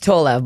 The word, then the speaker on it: Tolev: It's Tolev, but you said Tolev. it the very American way, so it's fine. I accept it. It's Tolev. Yeah, but Tolev is the way Americans say it. Okay. Tolev, I think, is more Canadian way, and Tolev is just like you guys you hold the O's open a bit longer. But that's a Bulgarian last name?